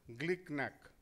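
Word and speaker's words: GlcNAc: Pronunciation is glicknack. Glicknack.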